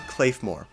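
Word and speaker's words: Claidheamh Mòr: a really good survival tool next is the cayore yes that's how you pronounce it and now we're beginning to get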